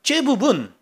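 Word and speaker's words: זבוב: 바알세불 그러면 이 세불이라는 말이 째붑이라는 말이에요. 원래 발음은 째붑입니다. 째붑은 똥파리라는 의미예요.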